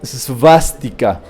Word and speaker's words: svástica: O svástica. La W se pronuncia como V. Svástica.